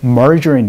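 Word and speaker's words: margarine: 표현을 해 주시면 되겠죠 마가린 발음 멀 준 입니다 연습 한번 해 보죠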